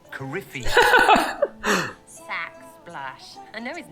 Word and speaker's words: Corypheus: Corypheus. Coryphinus. Corypheus.